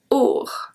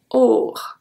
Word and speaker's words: aur: Or. Or. AU is pronounced like a soft O.